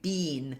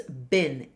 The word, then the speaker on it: been: have the tendenc say have the tendency to say been but in this case it's been I I so it's a shorter I sound so just be aware